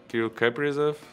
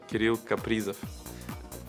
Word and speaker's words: Кирилл Капризов: В Америке произносят Кирилл Капризов, надо Кирилл Капризов.